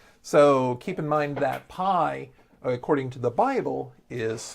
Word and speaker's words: pi: you take the Greek letter pi they actually pronounce it P so that's just something that we have to